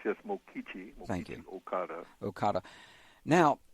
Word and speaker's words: Mokichi: Pronounced, yes, Mokichi.